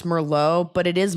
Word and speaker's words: Merlot: I Marriott does feel weird just like how it's not Merlot, it's Merllo, but it is Moette and not Moa.